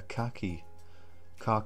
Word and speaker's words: khaki: I love the contrast between this kind of light, kind of like a khaki green is how we pronounce it in England, and then this very, very dark green, which looks quite a lot darker on camera actually.